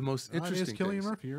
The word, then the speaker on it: Cillian: It is Killian Murphy. You're right. It is K? Yeah. Love it, then. All right. I've heard a lot of people pronounce it as C, so I guess those guys better take a look at that.